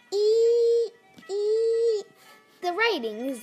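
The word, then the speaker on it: 一: this is number one the pronunciation is like this e e the writing is like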